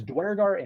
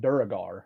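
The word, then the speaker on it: duergar: pronunciation where i think it's dwergart and duragar are the two ways to say it according to what's his face that made it um but i'll probably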